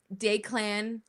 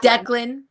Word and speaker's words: Declan: How did um Dayclan, Dclan, I don't know how you pronounce his name. I think it's Declan. Declan, that sounds much better.